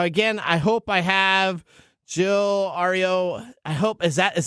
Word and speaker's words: Hilario Itriago: butcher all the names how do we pronounce your name sir it's not far out it's Hilario itriago Hilaria okay all right hilarious